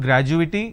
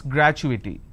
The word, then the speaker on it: gratuity: confirmation technology accrual gratuity it's not graduating it's gratuity all right so when